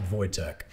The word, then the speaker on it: Wojtek: name something after this bear but yeah it's pronounced voytech so there's a couple cool documentaries about him